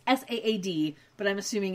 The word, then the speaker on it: Saad: It's S-A-A-D, but I'm assuming it's Saad, because everyone I've ever known with that name pronounces it Saad.